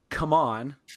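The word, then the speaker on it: CMON: I'm just like before this, like just before recording here, maybe it was last weekend, Simon had Come On, is how you're supposed to pronounce it now, had a virtual expo.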